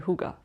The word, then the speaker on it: hygge: But the correct pronunciation is huga. It is actually huga.